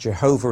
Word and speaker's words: Jehovah: letters of God's name that's pronounced Jehovah in English and Yahweh in Hebrew now to help you